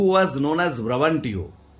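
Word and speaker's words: Brabantio: হু was known as ব্রাবান্টিও, বা কারো কারো মতে এটার উচ্চারণটা ব্রাবানসিও বলে থাকে, যে যিনি ব্রাবান্টিও বা ব্রাবানসিও নামে পরিচিত ছিলেন।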